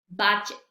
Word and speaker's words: budget: ¿Cuándo no se pronuncia la letra D en estas palabras? Vamos a ver cómo se pronuncian correctamente. Batch, batch, bridge, bridge, budget, budget, edge, edge, fridge, fridge.